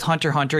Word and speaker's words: Hunter x Hunter: I just want to point out with Hunter x Hunter, you don't pronounce the X.